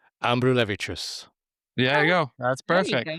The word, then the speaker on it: Ambrulevičius: Ambrulevicius. Ambrulevicius.